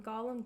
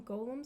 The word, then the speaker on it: Gollum: nicknamed Golem Golem because people keep calling Gollum Golem. So, I wanted to switch it up. Like, I try not to be the fan that gets all worked up if somebody says the name wrong, but when people are talking about Gollum from Lord of the Rings and they call him Golem does me a little bit.